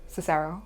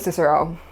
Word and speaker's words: Cicero: My personal favorite, statesman, formerly I called him Cicero because of my Welsh accent that puts emphasis on vowels. His name is Cicero.